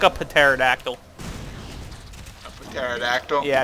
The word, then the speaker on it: pterodactyl: A pterodactyl? Yeah, it's how you pronounce that if you didn't know. Hard P at the beginning.